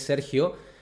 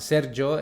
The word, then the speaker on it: Sergio: nombre por ejemplo eh la pronunciación era diferente de cómo es mi mi nombre que es Sergio acá lo pronunciaban sergo entonces ahí yo quería